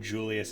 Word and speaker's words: Julius: anime where anyone named Julius is called Julius. Fucking ReZero. And I'm just like, wait, how do you say it again? It is a J. It is Julius. There we go. It's not Julius.